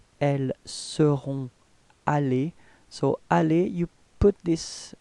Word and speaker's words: allées: Okay, so you've got to write them but don't pronounce them. Okay, if you take the example of the last form, it's elles seront allées.